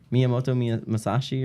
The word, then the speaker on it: Miyamoto Musashi: Miyamoto Musashi or whatever.